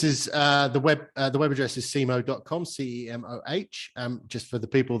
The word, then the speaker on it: cemoh.com: that before we started, that is the phonetic pronunciation of CMO, Chief Marketing Officer.